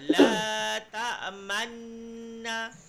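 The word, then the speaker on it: لا تأمنا: Qalu la ta'manna. La ta'manna. Man kan dengung. La ta'manna. Ketika kita sebut man, bibir ke depan.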